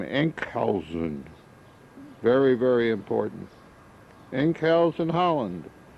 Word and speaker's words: Enkhuizen: Remember the name, Enkhuizen.